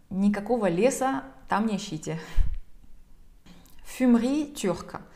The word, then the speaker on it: fumerie: «Fumerie turque». Вот здесь как раз-таки буква «e» в середине читается бегло. Она как будто бы даже игнорируется.